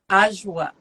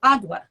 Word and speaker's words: Adwoa: They tell me I've been saying it wrong. I don't speak any other language but English. Apparently, it's Okay. Ajwa, but I'm American. We pronounce the D, Adwa.